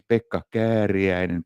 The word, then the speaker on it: Pekka Kääriäinen: So my name is Pekka Kääriäinen because it's so complicated to pronounce.